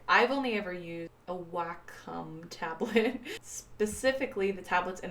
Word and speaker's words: Wacom: into pronunciation right now I know that it is Wacom Wacom Wacom and I say we come and that I'm wrong I don't care it's